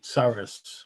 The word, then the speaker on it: Soros: They were left-wing secretaries of state who had received funding from George, the guy's last name rhymes with Soros, okay?